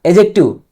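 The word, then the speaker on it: adjective: एडजेक्टिव ना बोलना। एडजेक्टिव। क्या? एडजेक्टिव। डी साइलेंट है।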